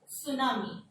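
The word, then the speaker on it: tsunami: का साउंड आता है, और अगर एस टी के बाद आ जाए तो टी साइलेंट हो जाएगा। सुनामी, तो सुनामी नहीं होगा, सुनामी।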